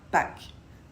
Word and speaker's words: Pâques: Vous pouvez le prononcer tout à fait comme un A normal ou alors le prononcer en un A un peu plus long et un peu plus grave. Pâques et non pas Pâques.